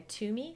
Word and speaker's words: Twomey: search by my name Toomey spelled like the number two t-w-o-m-e-y or by searching the